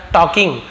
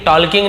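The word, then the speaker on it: talking: started उसने शुरू किया टॉकिंग बात करना एल यहां पर साले लेटर है एल को हम पढ़ेंगे नहीं टॉकिंग नहीं पढ़ेंगे लेकिन लिखते समय हमको एल लिखना जरूरी है टॉकिंग लाउडली और उसने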